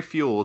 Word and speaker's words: Fewell: Like Fuell. Think of Fuell like you put in your car.